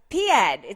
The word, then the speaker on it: Piéd: I'm so excited to have Piéd. Did I pronounce that right?